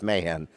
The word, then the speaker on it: Mahan: we came across and they gave us mayhem so that's what we are mayhem we're the mayhems i